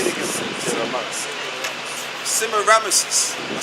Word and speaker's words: Semiramis: Semiramis.